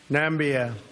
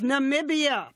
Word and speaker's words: Namibia: Nambia. It's Namibia, but what's a missing syllable?